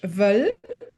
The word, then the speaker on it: will: And another one is ich will, I want, ich will.